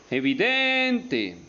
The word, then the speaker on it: evidente: como por ejemplo evidentemente evidente es una palabra grave tiene el acento en den y termina en vocal por